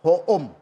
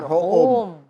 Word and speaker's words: Hoom: Tapi kalau kita bikin dokter ho e eh e home yang bahasa Inggris, orang bacanya dokter home. Nah, jadi enggak nyambung kan. Nah, gimana supaya orang kita bacanya dokter home. Nah, ya ini home gitu.